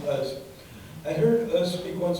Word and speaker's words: Oz: The talk was led by a Palestinian academic, Sari Nusseibeh, and a now deceased Israeli Jewish author named Amos Uz, spelled O-Z like Oz, pronounced Uz.